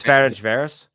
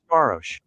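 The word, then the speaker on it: Ferencváros: Ferenc Varos. Ferencvaros. Yeah. None of you motherfuckers said it right, including me. Yeah, Google's not gonna say it right.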